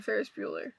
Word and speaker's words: Ferris Bueller: Because I feel like either he based Ferris Bueller on Ducky, or Ducky was based on Ferris Bueller.